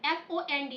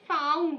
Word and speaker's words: fond: That is FOND. Have you ever heard about it? FOND, fond? Yes, ma'am. Yeah, fond. Shock. Shock. The, Yeah. yeah. So most people they pronounce it found. It is not found.